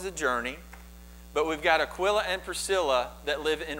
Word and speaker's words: Aquila: I think it's actually pronounced Aquila, but I've always pronounced it Aquila.